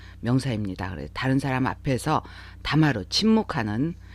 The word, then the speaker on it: 黙る: 자, 다마루, 목스르, 모다스 다 침묵하다로 통일해서 대표적인 뜻을 기억을 해주시면 좋겠어요. 같은 한자지만 발음이 이렇게 다릅니다.